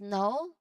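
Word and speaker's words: know: You can clearly see the K at the beginning, right? So when we say it, we go straight the N sound. We do not really include the K sound in there. So there's no K sound at all.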